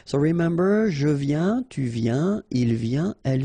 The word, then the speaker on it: viens: Je viens Final S not pronounced, okay? And when you combine this IEN, you get this yen, yen.